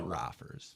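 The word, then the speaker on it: Roffers: It's actually rafers. Raers. Yeah, that's why I asked you to spell it so people knew where to look.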